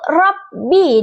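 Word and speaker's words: رب: Kesalahan yang sering terjadi seperti pengucapan ro yang terlalu cepat sehingga tidak jelas. Contoh baca yang benar itu yaitu rabbi dengan ro yang terucap jelas.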